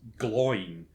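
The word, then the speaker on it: Glóin: Owen and glowing are pronounced o in and glow in with two syllables they're not pronounced a rhyme with coin okay so while I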